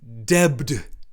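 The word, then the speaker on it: debt: when he should say when he should pronounce debbed d-e-b-t interestingly uh both of these uh complaints that he makes are hyper corrections um they are a historical hyper corrections that are in this period trying to force english spelling and indeed english pronunciation into latin even though those words were borrowed via i think by a french and never historically in english had the b sounds in them right so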